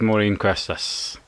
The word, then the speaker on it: Maureen Cuesta: And we're delighted to welcome back Morin Questas. Did I pronounce that right? Yes.